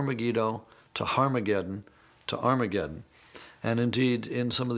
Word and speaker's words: Armageddon: to Harma gettin to Armageddon and indeed in some of the earliest versions of the New Testament written in Greek our mageddon has an aspirant at the beginning meaning it's pronounced with an H so it originally was